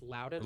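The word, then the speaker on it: Loudoun: Is this pronounced Louden? Louden County and Prince William counties.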